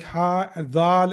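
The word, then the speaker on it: هٰذا: Though it is written like this, like ha, dal, and alif, but it is pronounced as hada.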